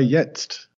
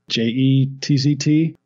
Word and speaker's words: jetzt: Although Malta was right, his pronunciation of jetzt, he says it's spelled with a J, J-E-T-Z-T. But in German, you pronounce that J as a Y sound, but Kemp is saying the J there, so he's saying jetzt.